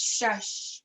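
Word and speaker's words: shash: It's shush, right?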